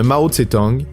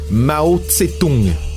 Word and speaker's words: Mao Tse-tung: Et, dépendamment des médias, la prononciation veut qu'on parle d'un certain Mao Tse-tung, selon le système Waid-Giles qui durcit une bonne partie des sonorités chinoises.